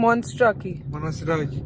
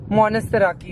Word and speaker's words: Monastiraki: Monstraki. Monastiraki. Mummy सुनी? Monastiraki. He's pronouncing it like that.